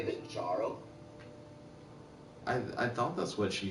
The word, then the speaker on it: Jarl: Let me talk to Did you just say the Jarl? I thought that's what she said. Yeah, it's pronounced Jarl, my guy. Jarl.